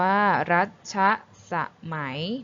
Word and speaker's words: รัชสมัย: คำ สุด ท้าย คือ คำ ว่า รัชสมัย อ่าน ว่า รัชสมัย นะ คะ มี งาน